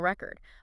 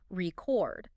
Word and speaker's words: record: Like a vinyl record. But if you shift that stress to the second syllable, record. Okay. It becomes a verb.